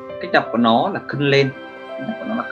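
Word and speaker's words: 訓練: Huấn luyện thì cách đọc của nó là khân lên. Cách đọc của nó là khân lên.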